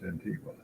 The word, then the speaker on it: Antigua: Here I am in the country, and it's Antigua, which you would pronounce Antigua.